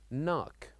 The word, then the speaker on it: knock: silent also this word knock knock so here also we wrote k n o c k so here we wrote the letter K but we don't pronounce it we say knock knock